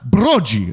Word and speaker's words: Broggi: It's Broggi.